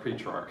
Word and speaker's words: Petrarch: a guy named francesco petrarch um and sometimes pronounced pre-shark um and he wrote